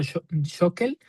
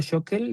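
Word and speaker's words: Schökel: Entonces, por ejemplo, diccionario bíblico hebreo español de Luis Alonso Shokel o Shequel, vi que también lo pronuncian así.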